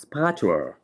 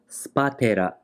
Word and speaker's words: Spatula: In English, it's pronounced spatula, but in Japan, it's called spatela.